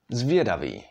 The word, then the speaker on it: zvědavý: This syllable would be vě, like in the word zvědavý, which means curious.